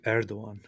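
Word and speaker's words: Erdoğan: It's Recep Tayyip Erdogan.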